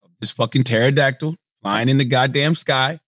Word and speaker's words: pterodactyl: P-T-E-R-O-dactyl. P-T-E-R-O. I know it starts P-T-E-R-O. Oh, he's right. I hate silent letters. What's the fucking point? You're not even saying pterodactyl.